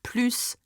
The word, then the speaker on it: plus: And in that case, I need to pronounce the S sound of plus, okay? Plus tends to be no more, but plus tends to add on to something, okay?